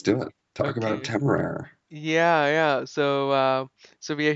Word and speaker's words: Temeraire: Yeah, I think that's Temeraire, or you can say air, however it is. Yeah, that's how I say I think for the longest time I was pronouncing it as Temeria or something, but Temeria is completely else.